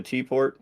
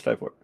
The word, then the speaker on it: Typort: Yeah, you started off saying it right, and then you switched back to T-port, and then I had to, like, hey, no, it's Typort.